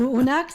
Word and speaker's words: Unax: Pues Unax se llama mi nieto con X, Unax, que a nosotros los canarios nos cuesta mucho pronunciar las Z y las S, nos las comemos en las X.